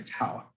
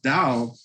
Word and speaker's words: Tao: symbols one symbol is called or you it's it's spelled t-a-o you would say tau but it's out with a d that's how it's pronounced yeah and you've heard of taoism right that is dao is the way okay so you guys watch